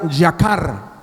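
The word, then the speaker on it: יָקָר: qué es precioso Amén la palabra precioso en el hebreo se pronuncia jacar Y eso quiere decir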